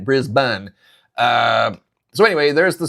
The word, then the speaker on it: Brisbane: Chris corrected me on the pronunciation of not Brisbane, Brisbane.